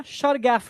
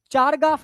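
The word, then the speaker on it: Chargaff: इसको चारगाफ रूल भी बोलते हैं लोग। प्रोनाउंसिएशन में चारगाफ रूल भी बोलते हैं। ठीक है? कुछ लोग शारगफ रूल बोलते हैं।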